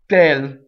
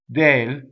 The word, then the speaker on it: del: way due to DS I don't go oh tail right I go all Dale it's the it's the